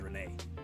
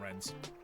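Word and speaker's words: Rennes: lost as well start Renee not Rens someone will kill me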